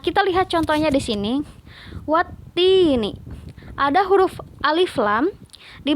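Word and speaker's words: والتين: Jadi dibacanya wattini, bukan waltini, tapi wattini.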